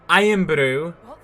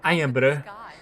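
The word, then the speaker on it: Irn-Bru: Iron Brew. And you kind of have to pronounce it like that. Iron Brew.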